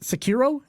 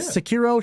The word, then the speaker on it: Sekiro: Is it Sekiro? Is that how you pronounce that one, Miggy? Yeah. Sekiro, Shadow Die Twice, and Outer Wilds.